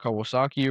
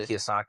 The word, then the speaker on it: Kiyosaki: uh and the what is his named Robert Kawasaki or whatever his last name. I don't even know how to pronounce. Yeah, Robert Kiyosaki.